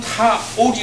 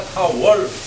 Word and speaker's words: 타월: 그 다음에 수고는 타올이 아니라 타월.